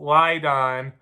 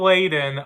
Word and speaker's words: Layden: 4 stars, a smart, sexy comedy, says Joe Lydon. I hope I pronounced that right. Correct me if I'm wrong. Joe Layden of NBC TV. All right, finally, I got it right.